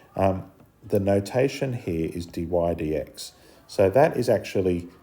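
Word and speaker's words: dy/dx: um that's why the dydx form is important and it's pronounced d y d x the UK people pronounce it d y by DX which is a waste of a syllable so d y d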